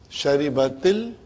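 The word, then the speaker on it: شَرِبَتِ ال: Now in order to pronounce them, the first sukoon will always get a kasra. Temporary. Now pronouns. Sharibatil. Then you can, from T you can go to Al.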